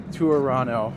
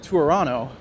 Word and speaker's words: Toronto: past couple years, uh, the joke with Toronto is that no one ever says the second T. So, the reason I went with Toronto is simply because that's